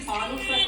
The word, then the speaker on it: Pānūsa: The same Pānūsa culture can be seen in Egypt also, where it's known as Pānūs. Slight pronunciation difference.